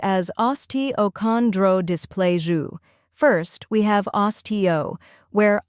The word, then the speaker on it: osteochondrodysplasia: Next, chondro, where con sounds like con in contract, and dro rhymes with grow.